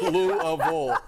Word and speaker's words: Louisville: Right? Louisville. Three syllables.